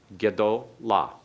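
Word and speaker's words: גְּדוֹלָה: A vocal schwa to begin it. Gedola. Remember, you shorten that third syllable back as short as possible.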